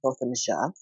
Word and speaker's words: Botham: Jean case for learning from the family it's pronounced Botham uh I was disturbed by it and a